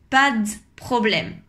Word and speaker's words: pas de problème: a pas de problème en général on dit pas de problème il n'y à on l'enlève carrément à l'oral pour parler plus rapidement et on va dire pas d'problème encore une fois on